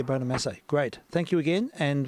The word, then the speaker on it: Bonamassa: Is that right? Bonamassa? Is that how you say his name? Bonamassa. Yeah, Bonamassa.